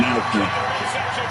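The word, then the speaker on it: Aichner: Yeah, but how do you pronounce the last name? Is it Eichner or Eichner? Fabian Eichner.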